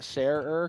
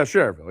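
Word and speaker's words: Schererville: I mean, the spelling looks like Sher Shererville. Maybe it is. I don't know. But no, I know it is. But do you say it like that? Sherer, because I feel like people from there would say just Sherville.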